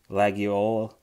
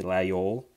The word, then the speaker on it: Laguiole: on to this brand lag yolo or as you pronounce to be more of like you omit the g lae ole if you're gonna be more french like and unum brock